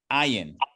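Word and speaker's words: עַיִן: Now, this letter, once again, like the aleph, is a silent letter, which means not that you don't do anything with it, but you would the letter takes on the flow or the movement of the vowel that will appear beneath or above it.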